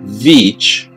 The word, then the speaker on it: Veach: Well, this is a story of Kenny Veach, that's Beach spelled with a V, and the M Cave.